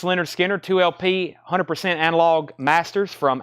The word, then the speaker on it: Lynyrd Skynyrd: Nightmare that's on blue vinyl 36.99 Lynyrd Skynyrd pronounced Lynyrd Skynyrd 2lp 100 analog masters from analog Productions 69.99